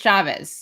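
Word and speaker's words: Chávez: it in a really I know it's a PEZ it's like no it's just Chavez yeah it's just like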